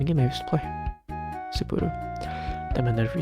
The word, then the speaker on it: Sapporo: Spur? No, 3 syllables. Sapporo. Sapporo.